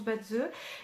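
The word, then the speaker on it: Bazi: Certains prononcent Badzi parce qu'ils ne savent pas que ça se prononce Badze.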